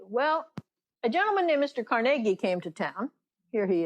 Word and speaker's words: Carnegie: meeting and reminded everyone to say his name carnegie not carnegie so i tried to